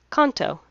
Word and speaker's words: Kanto: Kanto. It's Kanto on Pokemon Crystal. For kids translations, yes, it's pronounced Kanto. However, in Japanese, it is pronounced Kanto. Ka-n-to.